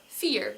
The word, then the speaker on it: vier: Or, like I said before, vier with a proper F sound.